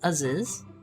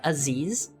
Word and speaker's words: Aziz: It's not pronounced Aziz. It's pronounced like Aziz. Rhymes with cheese?